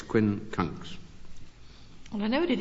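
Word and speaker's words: quincunx: It's very hard to pronounce. Q U I N C U N X Quinn Kunks.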